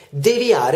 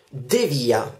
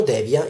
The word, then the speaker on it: devia: direzione di aree quindi l'accento in realtà è come in inviare noi diciamo egli in via dunque devia e non devia molti dicono devia in realtà si dice devia terza parola anche qui